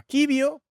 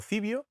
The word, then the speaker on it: Civio: asociación que se llama quibio, la verdad es que nunca sé cómo se pronuncia, si quibio o cibio, pero bueno, yo entiendo que será kibio porque es en latín que eh detecta muy